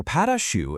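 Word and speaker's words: pâte à choux: Okay, so pate a choux, and you say it like pot a shoe, literally translates from French to cabbage paste.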